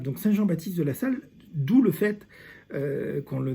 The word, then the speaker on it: Salle: Ça s'écrit pas pareil, Saint Jean-Baptiste de la Salle, c'est comme une salle, et SA2LE.